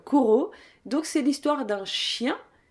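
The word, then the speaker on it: Cujo: Ensuite, en 1981, est sorti un autre Stephen King, donc celui juste après Danse macabre, c'est-à-dire Kuro. Moi, je le prononce à l'espagnol, Kuro.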